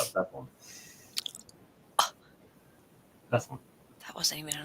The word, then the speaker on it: Bethlehem: I guess I say Bethlehem really fast because people have said it's not Bethlehem, it's Bethlehem. And well, it's not one syllable; it's 3 syllables. Bethlehem. Right? That's 3 syllables.